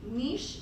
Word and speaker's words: niche: in the ecology world nich can be uh pronounced either Niche or Niche both equally acceptable I just like Niche